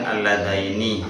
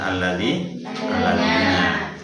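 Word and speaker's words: ٱلَّذَيْنِ: Kemudian alladaini bukan alladina, ya, tidak semuanya alladina, beda maknanya.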